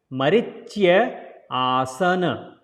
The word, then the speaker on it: Marichyaasana: So cha, not cha, there is a Y sound. So chya. Marichyaasana.